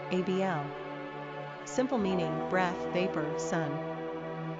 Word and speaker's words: Abel: Pronunciation, ABL.